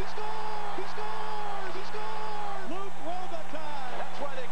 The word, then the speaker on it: Luc Robitaille: I'm here with the slightly difficult-to-pronounce Luc Robitaille, or how do we say it in French? Luc Robitaille. Luc Robitaille. Well, that's pretty good. He said it right.